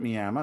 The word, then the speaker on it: Miami: town now called my it's actually spelled Miami but they pronounce it Miama no one explained it why and the claim to fame Miama is the Coleman theater